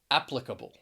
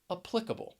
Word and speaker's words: applicable: going to get stressed so applicable the stress is on the first syllable applicable the stress is on the second syllable and i hope you